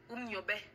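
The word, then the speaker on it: Um Nyobè: Donc, que ce soit les Umniobe, laissez-moi bien prononcer, je suis camerounaise, je dois bien prononcer les noms là. Umniobe, les Lumumba, les Sankara, Kadhafi, Wandi, la liste est longue.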